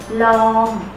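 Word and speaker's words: ลอง: ล อ ง ไ ด้ ไ ห ม ล อ ง ไ ด้ ไ ห ม ล อ ง It's pronounced like an English word, long.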